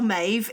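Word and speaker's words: Meadhbh: Anyway, our Mave is M E A D HB H because the H and the B is like a V sound, isn't it?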